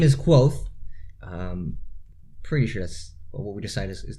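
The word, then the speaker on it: Kvothe: audio book discusses earlier but my name is quote precious what we decided is the correct way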